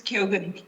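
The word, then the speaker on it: Keogan: Is that pronounced correctly? Is it Kyogan or Kyogan? It's Kyogan.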